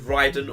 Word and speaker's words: Raiden: But I'm going to suggest for this one we make it out of 5, but different pronunciations of Raiden or Raiden or however you want to say it.